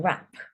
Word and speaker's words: wrap: look at silent W if you have an R following a w you can assume that the W is silent like this word wrap so we're not saying W wrap we're saying wrap same here reath so